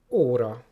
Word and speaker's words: óra: And the long version of this, again, just a bit more open and longer, is O. O, as in óra.